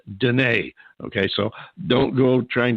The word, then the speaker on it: Deana: it was Deanna DEA and eight but it's pronounced de neige okay so don't go trying to spell de